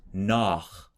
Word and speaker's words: nach: Sich would be that forward CH, and nach would be the back CH.